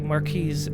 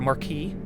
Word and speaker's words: marquis: Look Hope flag so this is a marquis as well or a marquee is probably how it's pronounced yeah life is to